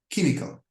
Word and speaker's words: chemical: Letters C and H. The pronunciation is K, like chemical, and it's pertaining to the chemistry.